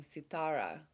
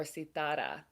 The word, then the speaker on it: Sitara: This is where and why I started going by the name Sitara or Sitara. Pronunciation is okay, either way.